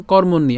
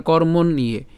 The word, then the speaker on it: কর্মণ্যে: উচ্চারণ করলাম কর্মণ, এবং আমরা জানি যে জফলার উচ্চারণ যেহেতু ইয়র মতো হয় এবং তার সাথে যেহেতু একার আছে, তাহলে উচ্চারণটা কেমন হবে? ইয়ে। ঠিক আছে, তাহলে উচ্চারণটা কেমন? কর্মণ্যে। আমরা যদি একটা একসাথে উচ্চারণ করব, হ্যাঁ, তাহলে কর্মণ্যে।